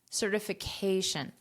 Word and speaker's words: certification: syllable stress is so this syllable which is highlighted here is the syllable stress certification but in this case